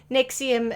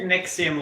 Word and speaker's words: NXIVM: yes not to be not to be confused with the uh antacid pill as spelled differently so this is spelled nxivm why use actual english yeah